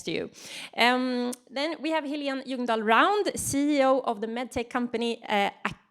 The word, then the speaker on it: Helene Ljungdahl Round: Then we have Helene Ljungdahl Round, CEO of the medtech company Acarix.